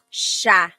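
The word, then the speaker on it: siya: But the s i y combination that makes a shh sound. So and sha sha.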